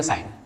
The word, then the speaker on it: sign: यहां भी देखो क्या है, एन से पहले जी आ रहा है तो जी नहीं है, समझो इसको. साइलेंट मतलब नहीं है समझो, राइट. लिखते तो है बट उसको समझना है कि नहीं है, राइट. तो पढ़ेंगे साइन.